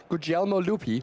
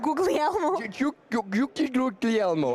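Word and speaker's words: Guglielmo Lupi: Uh, Gelmo Lupy. Oh, I we've been calling him Googly Elmo is what we call how you say it. Uh, it's just a normal G.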